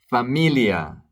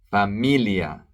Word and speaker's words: familia: pan bread entada entrance Familia pay attention to the pronunciation and to the stress Familia family phaia Pharmacy same